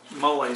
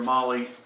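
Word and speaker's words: MOLLE: But like I mentioned, it's got these detachable external pockets with this mole system, they call this, mole or molly, depending on how you want to pronounce it.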